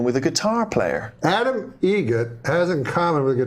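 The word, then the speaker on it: Eget: How do you say the name? Adam Egget. Egget. Spelt differently. Like the bird.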